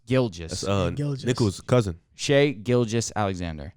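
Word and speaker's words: Gilgeous: of swag said right but you said gillian how do you say it gil just gilges nicholas cousin shea gilges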